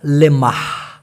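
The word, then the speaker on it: lemak: Malaysian ভাষায় বলা হয় লেম্মাহ লেম্মাহ লেম্মাহ ঠিক আছে আবার অনেকে ভুল ধরতে পারেন ভাই আমরা তো জানি চর্বি মানে লেম্মাহ না চর্বি মানে হচ্ছে লেম্মা এল ই এম এ কে লে মা লেম্মা ক্লিয়ার নেক্সট ভীতু ভীতুকে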